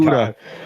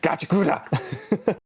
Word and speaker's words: Gachiakuta: I'm just gonna butcher it every Gachiakuta. time. Gachiakuta. You can uh, almost pronounce it if you say it super fast, but it'll sound really yeah, wrong.